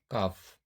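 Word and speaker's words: calf: अब देखिए यहाँ यप से पहले यल आया हुआ है, तो इसका भी उच्चारण नहीं करेंगे, इसको बोलेंगे काफ, हाफ।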